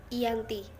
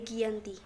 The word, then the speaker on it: Giyanti: tanggal 13 Februari 1755 dalam pelafalan Belanda ia disebut sebagai Yanti dan secara tertulis ia dibaca sebagai Giyanti tempat tersebut sekarang dikenal